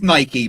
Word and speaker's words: Nike: It is Nike because the the the god is called Nike, but in in Britain, everyone just says Nike.